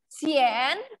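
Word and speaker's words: 咸: Nah, ini bacanya gimana? Xian, apa? Xian itu artinya apa? Asin. Xian itu asin.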